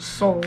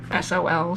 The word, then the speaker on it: Sol: name was well it I pronounce it soul but it's actually Sol so it would be